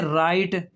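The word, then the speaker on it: write: और जब आर आ जाए तब भी डब्ल्यू साइलेंट हो गया। देखें राइट रैप रॉन्ग उसके बाद जो है वो रेसलर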